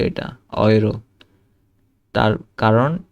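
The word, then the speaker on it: Euro: তারপরে ইউ বা এ umlaut you থাকলে অয়ের মতো উচ্চারণ হয়। যেমন ইংরেজিতে বয় বা টয়, সেরকম অয়, ঠিক আছে? তো একটা হয়তে, এই যে হয়তে অয় কিন্তু আসছে। তারপরে নয়, তারপরে অয়রো, ঠিক আছে? অয়রো, ইউরো না কিন্তু এটা অয়রো।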